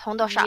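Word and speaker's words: 红豆沙: So the 红豆沙, I think is how it's pronounced. 红豆沙吗? Yes, 红豆沙.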